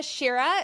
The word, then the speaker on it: Shirra: here we are with Jessica Shira is that how we pronounced your name yes yes yes awesome she is a